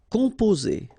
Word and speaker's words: composer: Composer. Okay, O and M together, after that a consonant, so it's the nasal on.